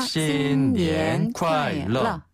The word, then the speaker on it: 新年快乐: 러는 약간 좀 혀를 띄우나요? 혀를 튕기면서 내는 발음이에요. 러. 러. 네. 러. 러. 네, 러. 즐거운 새해 보내세요. 그렇죠. 신년 콰일러.